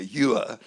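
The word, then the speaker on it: Uhr: And my mother had talked about her grandmother's maiden name, which was Maud Ewer, spelt in the German Ur, U-H-R, pronounced in Australia Ewer.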